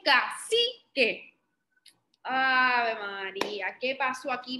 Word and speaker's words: cacique: Ustedes saben que yo dije que la letra C suena como, pero entonces cuando yo decía esta sílaba, no escuchaban que yo decía el caquique, ¿verdad que no? Yo dije cacique.